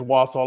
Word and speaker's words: Wassail: Jax, I think it is Wassel. I looked up the pronunciation. I was going to say, I'm pretty sure it is. So when he said Wassail, I was like, have I been saying it wrong?